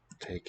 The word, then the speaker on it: tager: The single voiceless stop has weakened first to a g and now really dropped. Ta. It's modifying the vowel quality, I suppose. But no longer a stop consonant.